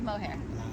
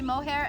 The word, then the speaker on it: Moher: how do you say Cliffs of Moher? The Cliffs Mower. Moher. All right. I always say mohair, and people make fun of Mower. it. Moher. You can drop the mohair, it's mower.